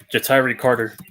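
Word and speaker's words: Ja'Tyre Carter: jatairi jitari carter there you go that's the pronunciation jatairi carter all right the packers took a linebacker tyree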